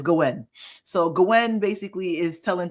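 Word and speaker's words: Gwayne: I think they pronounce it Gwyn. Gwen. Yeah, it's it's Gwen.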